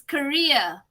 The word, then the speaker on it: career: right remember to pronounce this one says carrier is career okay so if you're familiar with the quake quick career are you familiar with that uh so remember that's more or less like the pronunciation of c-a-r-e-e-r career a good what can